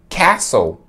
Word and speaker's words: castle: inglês se escreve assim ó mas a gente pronuncia é a sol é a sol cassol é sua ou de mim para de caçoar